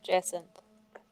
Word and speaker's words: jacinth: It's Jacinth. Jacinth? There you go. That's how you pronounce it.